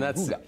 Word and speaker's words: Hygge: Hygge. Yeah, it's Danish, so it doesn't. Don't try and do it phonetically.